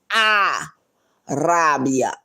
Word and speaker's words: Rabia: That's not the way you say my name. It's a Rabia.